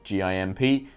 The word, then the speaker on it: GIMP: actual art program called GIMP. I just pronounce it GIMP because that's what it spells.